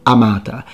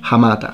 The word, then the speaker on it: hamata: is going to sound amata but we know that the latins pronounce the h hamata how do we know